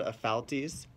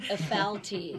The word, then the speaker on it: Ephialtes: It's called Ephialtes. A lot of people can't pronounce it right, but it's okay. Ephialtes.